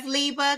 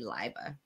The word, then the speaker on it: Leiba: Everyone says Leiba because it like phonetically speaking, it looks like it should be, but it's actually Leiba.